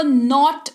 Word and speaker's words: knot: जी हाँ, स्पेलिंग इसकी के से शुरू हो रही है, लेकिन इसका उच्चारण जो है वो नॉट किया जाता है। के जो है यहाँ पर साइलेंट होता है, इस बात का आपको ध्यान रखना है।